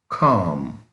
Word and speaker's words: calm: see the word is calm what is calm please notice the L is silent in calm number four shy shy